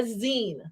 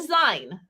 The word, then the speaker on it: zine: to say it right we're making a Zine right not a sign I really want to